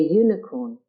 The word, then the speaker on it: unicorn: A unicorn. The U is pronounced fully as U.